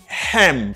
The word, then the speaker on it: him: You got a silent H. H la pas prononcé. L'on va parler rapide. Ou dit she cheats on him.